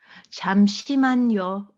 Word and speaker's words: 잠시만요: Was it 잠시만요? 잠시만요.